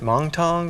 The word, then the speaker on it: Moncton: My dad was born in, is it Moncton? Is that the way you pronounce it? Moncton. Moncton. That was a good try. Just a very sweet insight. In Alabama, we say Moncton.